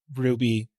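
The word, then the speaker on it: RWBY: Like, look, I I just There's this There's an anime called Ruby, which is spelled W or sorry, R WB Y, which is obviously how you spell Ruby.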